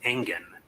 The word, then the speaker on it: Engen: Is it Engen, like an engine, or is it Engen? I thought I heard her say Engen. It's the latter. Engen, I think. That's how I'm going to pronounce it.